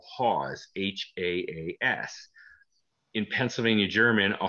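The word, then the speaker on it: Haas: a man by the name of h o hawes h-a-a-s in pennsylvania german a haws is a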